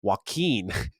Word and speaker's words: Joaquin: of jesus flip-flops cog my name is pronounced joaquin it's by my name in waukee you gotta call it joaquin my man you hear